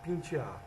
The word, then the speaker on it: pentear: Transformação de E, em I ou I, fato que ocorre de modo geral na língua portuguesa. Entretanto, nos dialetos nordestinos, Em particular no cearense, essa transformação ocorre também em qualquer posição em que as sílabas de uma palavra estiverem localizadas. Por exemplo, Ceará se diz Ceará, segunda, segunda, pentear, pentear.